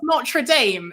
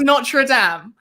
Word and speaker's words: Notre Dame: First of all, it's not pronounced Notre Dame. It's pronounced Notre Dame.